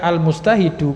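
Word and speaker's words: المجتهدُ: juga harus bisa membedakan Nah kenapa bacanya almustahidu karena dia sighah Isim fa'il dari fi'il madhinya berbunyi ijtahada ya ijtahada fi'il tulai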